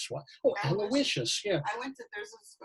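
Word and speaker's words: Aloysius: by the way I never knew how to pronounce this until like a few years ago I was alus what oh aloicious yeah I went to there's Catholic School in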